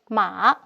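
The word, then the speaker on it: 马: We may take a look at the changes of the physical structures of this Chinese character, Ma, meaning horse, pronounced as Ma.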